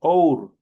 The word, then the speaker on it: hour: Por ejemplo, see you in an hour. Entonces, hour no se pronuncia.